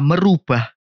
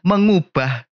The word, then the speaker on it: mengubah: dan baca adalah kata merubah dan dirubah yang bener adalah mengubah dan diubah karena kata dasarnya adalah ubah penutup nih untuk